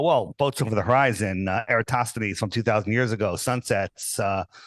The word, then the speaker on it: Eratosthenes: Because I do know Aristophanes, is that how you say his name? Eratosthenes.